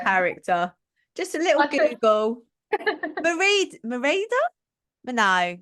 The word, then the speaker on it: Merida: Merida? No, that's not right. Is it? Meredith. No, it says Merida. You can't be her. I can't even say a name. It's Merida.